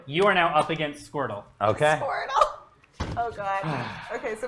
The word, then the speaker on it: Squirtle: Hey there, little guy named Squirtle. Kind of funny that it rhymes with turtle.